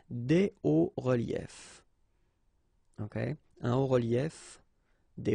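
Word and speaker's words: hauts-reliefs: then it's quite simple, because S and S, but then we don't pronounce them here. Des hauts reliefs. Okay, un haut relief, des hauts reliefs.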